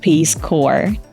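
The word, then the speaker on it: Peace Corps: in Social and economical Development worldwide exactly It's peace Core berd Sanders Once mispronounced the name of The state he was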